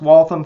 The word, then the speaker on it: Waltham: Did I pronounce Waltham correctly, Alan?